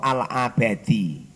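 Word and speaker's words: العبادي: Harokate kurang paham. Al-ubadi apa al-abadi. Kalau guru saya dulu di waktu ngaji bacanya sih al-abadi, ainnya di fathah.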